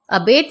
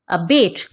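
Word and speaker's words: abate: तो अबेट means lesson और to reduce, किसी चीज को कम करना इज अबेट। लेकिन इसका प्रोनाउंसिएशन अबाटे नहीं होता, दैट इज अबेट।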